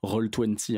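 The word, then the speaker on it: Roll20: qui s'appelle rôle vinci je le prononce à la française rôle twenty en fait en référence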